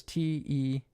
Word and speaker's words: Tiemann: That is Teemen. Sorry, is it Tim? Sorry, it's. Let me go back. His last name is Teeman.